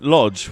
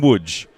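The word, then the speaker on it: Łódź: called Mawa pska when we were in Lodge we were actually in woodge and so L is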